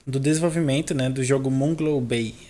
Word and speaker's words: Moonglow Bay: E a gente está aqui hoje com a Luciana, que está participando do desenvolvimento, né, do jogo Moonglow Bay. É assim que pronuncia?